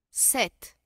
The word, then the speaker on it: sept: Sept. Sept. Sept. Sept. Pronunciamos de frente la T.